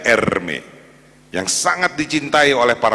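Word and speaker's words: Hermès: ini ada merek Hai namanya Hermes bacanya Ermi yang sangat dicintai oleh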